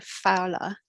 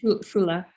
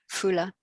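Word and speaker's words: Foula: Nikki says, when I visited, I really wanted to go to Fowler. Is that how you pronounce it? Fula. Fula.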